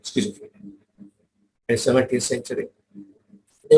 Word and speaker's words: schizophrenia: When you pronounce schizophrenia, there's a T when you're pronouncing schizophrenia.